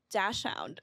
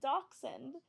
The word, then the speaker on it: dachshund: that was different than dash hound I thought dash hound was how you pronounce it because that's how it's spelled but it's like a German word so then you pronounce it Dachshund and I she was